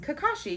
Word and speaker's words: Kakashi: Kakashi, yeah.